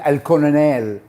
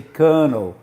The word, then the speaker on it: colonel: some um translators translated el conon el so they read the whole word in english you say kernel you don't pronounce the first l it's not pronounced and